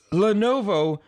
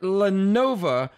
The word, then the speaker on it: Lenovo: with his colorful words it's lenovo not lenova jeez you sound like